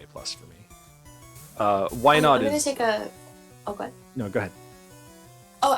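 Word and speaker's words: Wynaut: to you as well i didn't realize uh why not was the next pokemon and or that's how you pronounce it so when you said it i thought you were saying like why not like starting a sentence oh yeah uh i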